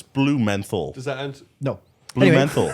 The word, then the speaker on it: Blumenthal: It's blue menthol.